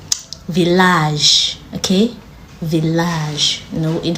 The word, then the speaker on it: village: But there are some exceptions like village.